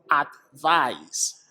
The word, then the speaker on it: advice: and here's a tip the ice ending of advice is pronounced like ice advice while the ise ending